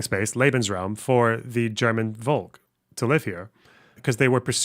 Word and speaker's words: Volk: And in one country, it was Volk is pronounced like folk.